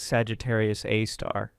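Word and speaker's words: Sagittarius A*: super massive black hole named Sagittarius, a star pronounced Sagittarius Aar.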